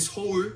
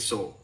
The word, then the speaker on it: Seoul: Is it Seoul? Yeah, like soul.